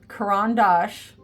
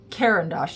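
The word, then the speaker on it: Caran d'Ache: Neo ones because from Karan Dash which is by the way how you say it not kendos it's karandash they're Swiss Swiss um they're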